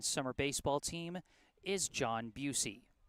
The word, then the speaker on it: Bucci: Head coach of the 18 and under Brookline summer baseball team is John Busey. Bucci. It's pronounced Busey.